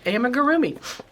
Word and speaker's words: amigurumi: Oh my gosh, I said amigurumi.